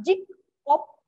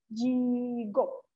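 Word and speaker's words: 직업: Jadi bacanya bukan jik op. Nah, tapi si gioknya ini kita hapus. Jadi jigok. Tapi ini pelafalannya aja ya Robun. Tulisannya tetap jik op, tapi pelafalannya itu adalah jigok.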